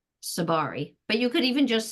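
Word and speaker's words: Tsabary: Shafali Seberry. Did I pronounce that right? How do I say that? Sabari, but you could even just say Shafali.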